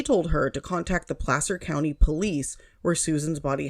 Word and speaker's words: Placer: talking about this and everybody calls it Placer County because it's spelled PL L A C E R, but I'm from California so you get the benefit of my knowledge on these cases. It is Placer County.